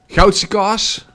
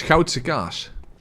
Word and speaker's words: Goudse kaas: Goudse kaas, or how it's always mispronounced outside of the country, Gouda. Or how Bubble Bass says it, Hauda? No. The city is called Gouda. It's Goudse kaas.